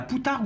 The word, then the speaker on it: poutargue: C'est d'œufs de mulet, on appelle ça la poutargue ou la boutargue, suivant les prononciations, le P ou le B est autorisé.